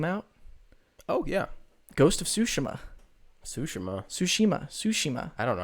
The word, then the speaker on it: Tsushima: Well, because it's Tsu. like a Japanese. They pronounce the T. They go Tsushima. Don't they? In anime they're always going Tsu.